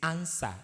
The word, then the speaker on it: answer: not answer it is answer because the W is a silent word and it is not pronounced that is just by